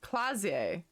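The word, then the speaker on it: Klaasje: name miss just for the record flazier ammondu clausier clausier that's how you say it where are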